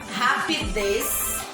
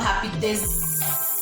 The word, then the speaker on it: rapidez: Agora eu trouxe também algumas palavras de Z com som de S. Rapidez. Eu não falo rapidez. Rapidez. Não, é rapidez.